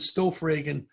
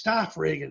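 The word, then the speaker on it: Stoffregen: Yeah, for years and years I said Stoffragen, and one day he goes, Chip, it's Stoffragen, like staff. I go, oh, Stoffragen. Okay, I got it, my friend.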